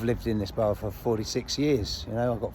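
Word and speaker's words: Phaure: So my name is Leo 4. Right? It's spelled P-H-A-U-R-E.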